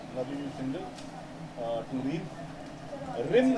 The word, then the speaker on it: Reem: Rim है या Reem है क्या है? Reem है, correct? So I pronounce it right.